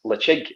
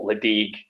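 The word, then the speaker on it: Ledaig: He said, "Yeah, I've watched this YouTube video about a guy who says it's pronounced Lechig and not Ledig or Ledig and stuff like that."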